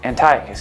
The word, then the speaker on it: Antiochus: right there I like getting it right don't mispronounce it Antiochus King Antiochus puts seven seven of this of this mother's